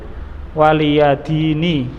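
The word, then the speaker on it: وَلِيَ دِينِ: Lakum dinukum waliyadini. Itu nunnya kasrah, antum lihat. ya-nya dihapus ya. Bacanya waliyadin, maknanya dini ya.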